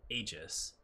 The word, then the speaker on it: Aegis: Aegis is actually how you pronounce that, but I'm going to get it wrong a lot. I think you can pronounce it Aegis, but I could be wrong about that. It might just be a bastardization that's eventually becoming legitimate because too many Americans read it as Aegis.